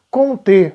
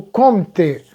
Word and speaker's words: Comte: sociologia ela vai nascer com um pensador chamado com te ou conte com aí a pronúncia malhar de cada lugar mas em geral